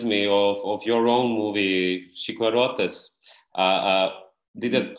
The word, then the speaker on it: Chicuarotes: Yeah, this reminds me of your own movie, Chiquarotes. Did I pronounce it well?